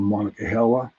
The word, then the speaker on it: Monongahela: It's called a little town called Monongahela, right?